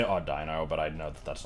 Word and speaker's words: Audino: Does it pronounce Ordino weirdly? I don't think so. I always say Audino, but I know that that's not correct. I'm pretty sure it's Ordino.